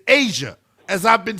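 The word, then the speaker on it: A'ja: And it's not Aza Wilson either. It's Asia, as I've been saying the entire time.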